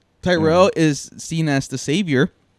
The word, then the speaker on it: Tyrell: Alien helped it, but obviously Tyrek. How do you say his name? Tyrek. Welek. That was Tyrell.